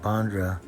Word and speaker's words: Bandra: And you pronounce it Honda? Yes, Bandra.